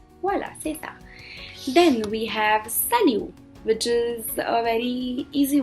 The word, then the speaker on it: salut: like hi and uh the t at the end of it is silent so they say salu and do not call it salute because they don't pronounce